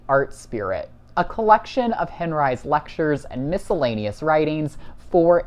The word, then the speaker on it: Henri: Oh, a quick note about the pronunciation of Henri's last name. It's natural to want to pronounce this in a French manner, Henri. But Henri, who was born with the surname Henri, but later changed this